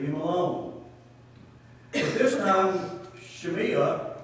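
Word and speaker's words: Shimei: alone but this time shemia is the way it's pronounced is singing a different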